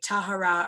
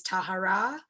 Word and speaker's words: Tahara: words where like in english you can say tahara or tahara it's not wrong either way but the correct pronunciation is tahara but like if you were to say tara you'd still be right can you talk about